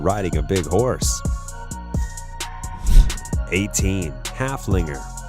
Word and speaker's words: Haflinger: Haflinger with a name that rhymes with Gunslinger halfling reserved just as